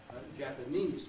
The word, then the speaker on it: Japanese: And that gives you words like Japanese, for instance, right? Which takes the stress on the final syllable, the main stress.